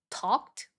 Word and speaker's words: talked: 아, 그리고 생각보다 진짜 자주 놓치는게 talked, worked 이런 단어들의이는 발음이 t로 발음이 되잖아요.